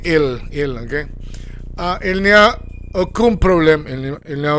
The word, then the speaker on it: il n'y a: N-Y-A, nya, il nya. Now, some people may say nya, and they're going to eat the ill, but that's when you are advanced, okay? Continue to say ill, okay? Il n'y a aucun problème, il n'y a aucun problème.